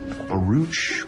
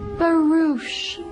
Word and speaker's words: barouche: has a name yeah how do you say it a root or roach barouche it's a four wheeled